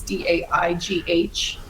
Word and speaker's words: Daigh: But yeah, it's Daigh, and the last name's Irish, so it's spelled weird. It's Daigh, and you can find me on Instagram.